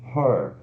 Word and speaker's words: her: Então, por isso, né, aqui o pronome de objeto ela vai ser her, né? H-E-R, e se pronuncia o H, naquele schwa forte L.